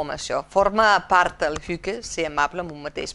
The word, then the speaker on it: hygge: Es pronuncia Hygge.